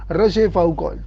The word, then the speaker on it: Rochefoucauld: El orgullo no desea deberes, escribe la Rochefoucauld, apellido difícil de pronunciar en castellano, es un apellido francés. Rochefoucauld.